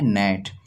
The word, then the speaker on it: gnat: लग रहा होगा कि यहां तो ग्नेट लिखा है पर ग्नेट नहीं है इसको पढ़ा जाता है नेट जी या साइलेंट लेटर होता है तो यहां स्टोरी